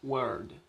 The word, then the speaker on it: word: WO antes de RD. Entonces, si sigue la regla, se pronuncia word, word, que significa letra.